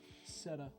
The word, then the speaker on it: SETA: Seta. Is it Seta? Okay. Seta. Okay. Set. We'll start. want to pronounce it correctly. Thank you, Tater. Like setting a table.